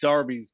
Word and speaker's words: derby: do they call them darby's here uh i don't know they spell them derby's so derbies yeah yeah they're pronounced darby's but yeah derby's no